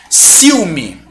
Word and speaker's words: ciúme: Mas como eu tenho o acento e a pronúncia da palavra é ciúme, eu sei que isso aqui não vai ser um ditongo, vai ser um hiato, tá? Não vai ser ditongo, vai ser hiato.